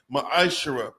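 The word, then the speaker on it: ma'aser: 3: 8-10 me means 10 in the Hebrew it's pronounced Maisha 10% of every penny of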